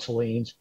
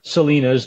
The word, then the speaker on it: Point Salines: The extraction airfield, Point Salines or Salinas, depends on how you pronounce it.